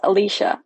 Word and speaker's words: Alyssa: name me after their wet nurse named Alyssa, pronounced Alicia, ironically.